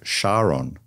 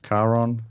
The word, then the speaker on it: Charon: Or Greek ferryman Charon. Or Charon.